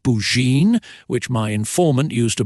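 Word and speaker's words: Burgoyne: had a famous foxhound named bergoin he pronounced it bouin which my informant used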